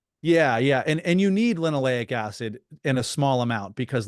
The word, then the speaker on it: linoleic acid: lino, how do you pronounce it? Linoleic acid. Linoleic acid.